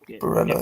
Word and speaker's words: Barella: Barella, that's how you pronounce it.